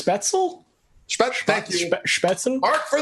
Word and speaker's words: Spätzle: Spatzel, spatzel, I don't even know that's how you say it. I think it's Spätzle.